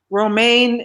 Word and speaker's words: Romaine: Romaine is the pronunciation like the lettuce, romaine lettuce.